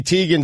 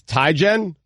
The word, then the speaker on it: Teigen: we've been pronouncing chrissy teigen z' name wrong this entire time quote I gave up a long time ago my last name is ty gen not Teigen tigon whatever so bad